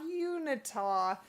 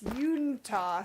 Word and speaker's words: Uintah: It was pointed out to me that I have been saying it wrong. It's not Unitah. It's Uintah, so my apologies.